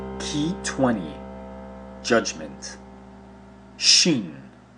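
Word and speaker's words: שין: Shin, transliterated as sh, value 300, is pronounced shin.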